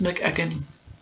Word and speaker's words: McEachern: Dillon was played by James McEachern.